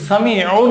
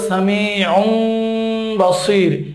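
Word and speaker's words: سميع بصير: আমি আরেকটা উদাহরণ লিখছি, সামিউম বাসির। তানবিনের পরে বা আসছে, এখানে এই তানবিনের উচ্চারণটা মিম হয়ে যাবে। সামিউন আছে, বলতে হবে সামিউম বাসির, একটু গুন্না করে এখানে পড়তে হবে।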